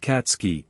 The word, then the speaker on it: Katsuki: checked her pad yeah says it right here katsuki bakugo it's pronounced katsky bakugo said ha Apple